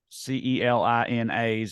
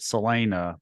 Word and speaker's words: Celina: of the uh there's a few other uh c-e-l-i-n-as out there there's one in Ohio there's one in Texas there's one in Kansas that spelled differently and I think they all pronounce it Selena but we uh for you know whatever reason